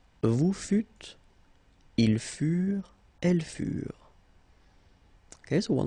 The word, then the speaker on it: furent: Ils furent, elles furent. Keep in mind that ENT, you know, the ending for the plural form is never pronounced, so furent.